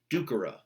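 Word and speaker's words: ducere: like moneiri, terreiri, salveiri, it's a short E. So scribera, ducera, agera, winkera. It's literally a short E in that you're just like not emphasizing it in the way that you would with a second conjugation.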